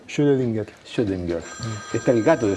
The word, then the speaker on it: Schrödinger: ¿Cómo se pronuncia? Schrödinger.